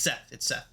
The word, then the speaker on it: Seth: Is his name Safe? You know, I don't know if I'm pronouncing this right. Let me ask Google real quick. Pronounce Safe. It might be Seth. Seth. It's Seth. Seth.